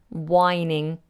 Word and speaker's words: whining: is to moan and notice that's a silent H whine whining then the whining schoolboy